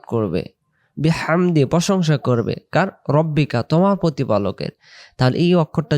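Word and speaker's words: رَبِّكَ: বা রাব্বুকা বলবো না এখানে হবে রব্বিকা অনেকে ভুল বসত যেলাম তারকাইফলা রব্বুকা ওইটা এখানে চলে আসে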